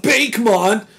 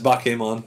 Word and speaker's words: Bakemon: I love Bakemon, but I can't find him anywhere, and I'm looking to get stoned. It's not Bake. I know, it's Bakemon.